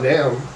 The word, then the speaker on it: Nam: He's coached by Nam. You know, Nam, Oh, okay. Nam Nom, Thomas. nom, nom. Yeah. Oh, wait, is that how you say it? It's like nom nom nom.